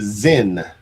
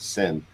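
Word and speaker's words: Sinn: corrected us on the last episode that it's supposed to be pronounced sin, but I don't think so. I've always heard No, it. it's Zin, I believe.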